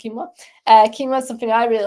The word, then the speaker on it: quinoa: One grain that I like a lot is quinoa or quinoa, depending on how you pronounce it. I pronounce it quinoa.